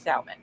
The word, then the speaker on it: salmon: It has an L in it. The L is not solid. The motherfucker is salmon.